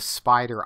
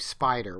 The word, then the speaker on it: Spyder: before I showed you how to use the spider IDE I just wanted to make sure that